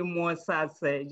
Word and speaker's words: Mosase: Well, it's the first time I hear someone pronounce it correctly, Mosase. Just spell it as it's written.